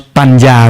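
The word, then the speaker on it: paññā: But with the ends, actually it's pronounced in between Ja and ends, which is we pronounce Panya. When two ends with the curl together, we pronounce Panya.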